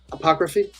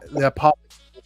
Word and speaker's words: Apothecary: second guy called Jericho, help me with the pronunciation. Apocryphy? Is that what it is? Apocryphy? What? How do you say that word? Apocryphy. Is that it? Apothecary. Apothecary. Whatever it's called. The Apothecary Diaries.